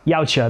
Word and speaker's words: Yautja: Being a Yautja? Yautja, that's what it is.